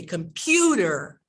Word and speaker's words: computer: So I don't say competitor, competitor. Competitor. I say computer, right? In my accent. Why? Because it's you is the full vowel sound, right?